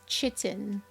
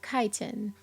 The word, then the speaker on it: chitin: wings okay so that's how you pronounce that chitin i was reading this one book about this alien insect species and whenever that word popped up i read it as chitin it's actually pronounced chitin cool i learned a thing and you know